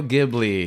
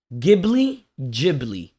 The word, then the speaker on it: Ghibli: Pretty sure it's Ghibli because the GH in Italian. It's Italian, yeah. Yeah. It Mhm. makes the gus sound.